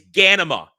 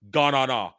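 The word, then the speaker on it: Ghanima: It's Ganima and Leto, not Ganana, whatever the fuck they pronounce it.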